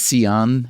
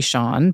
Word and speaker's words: Sian: And do you want to just explain why your name is Sian and not Shawn or something? It's spelled S I A N. Can you just explain the story behind that? It actually is supposed to be Shawn, but my parents named me Sian.